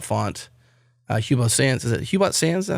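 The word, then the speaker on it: Hubot Sans: and the hubot font hubot sand is it hubot sand that how you say it yes hubot sand yeah looks a lot like the font you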